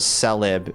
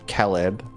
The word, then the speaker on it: Celeb: Say instead of Celeb, Caleb, right? You say it like it's like CA, like Caleb almost.